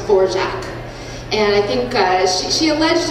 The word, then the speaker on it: Dvorak: she adopted it she wanted it to be pronounced for jack and i think she alleged it was a